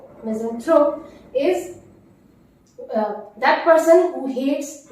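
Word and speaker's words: misanthrope: Notice the pronunciation, मिज़ेंथ्रोप, मिज़ेंथ्रोप is that person who hates mankind or humankind।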